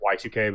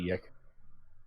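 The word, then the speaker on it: YIIK: It's supposed to be pronounced Y2K, but everyone calls it Yick.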